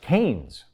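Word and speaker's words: Keynes: touch their fredman and gouge their ke it's pronounced canes and that's why you'll always be alone you'd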